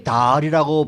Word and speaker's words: Dahle: 그러면 이게 달이라고 발음을 하나요? 아니면 내일이라고 발음하나요? 어떻게 델리라고 해야 돼? 어떻게 됩니까? 달이라고 하시는 게 가장 좋을 것 같습니다. 저도 사실 그 주지사를 많이 취재하지 않는 입장이라서 정확하게 발음은 모르겠지만 제가 듣기는 달로 발음하신다고 달? 듣고 있습니다.